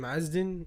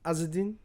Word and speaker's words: Asdin: how much um and my name asdin isn't azadin asdin as a dinner as a dinner yeah